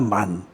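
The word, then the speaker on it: מן: 만나 만나 이렇게 얘기하는데 히브리어로 이게 이런 단어는 그냥 만입니다 만 만세 만나 그러는데 원래 히브리어는 그냥 만이에요 만 근데 무엇은 만인데 이게 뭐야 이게 만후가 되는데 이게 만후가 만나러 우리들이 이제 헬라어식 발음으로 만나 이렇게 하는 것입니다 그래서 그것을 날마다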